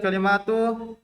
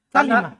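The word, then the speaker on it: كلمة: Kalimah, bukan kalimah. annaha kalimatul ikhlas Enggak. Masih salah. Itu berarti terbawa di lisan, kebiasaan. Bukan kalimat. Kalimah.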